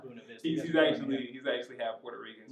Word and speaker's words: Buena Vista: If you're watching this, it's not Buena Vista. It's Buena Vista. All right? Come on now, not Buena Vista.